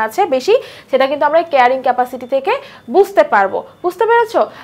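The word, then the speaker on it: carrying capacity: সংখ্যাটাই আসলে ওই জীবটার কেয়ারিং ক্যাপাসিটি। ইংরেজি যদি আমরা দেখি, ক্যারিং ক্যাপাসিটি না, আসলে উচ্চারণ কেয়ারিং ক্যাপাসিটি হবে।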